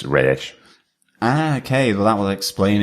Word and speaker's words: Ra's: A really weird phrase in which he uses, but Yeah, Bruce calls him Raish. That's how he pronounces Ra's al Ghul. It's Raish.